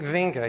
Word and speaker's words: Winge: if you've ever heard how to pronounce V's first name it's oing oing vinga he's from the he's